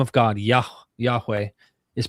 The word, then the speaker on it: Yahweh: Based on the Hebrew manuscripts in the Masoretic text, Nehemiah Gordon argues that the Hebrew name of God, Yahweh, is pronounced Yehovah.